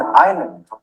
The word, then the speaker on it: island: S as in island.